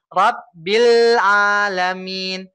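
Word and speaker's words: Rabbil 'Alamin: Lamnya sempurna begini. Rabbil Alamin. Ya, jadi kesannya ngambil A-nya nggak terlalu cepat, Pak. Nggak terlalu dini.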